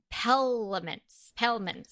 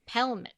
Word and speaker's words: pelmet: Curtain pelments. I don't even know how to say that. Pediments? Pendulum. Spell it. No, it's Pelmet. Pelmet.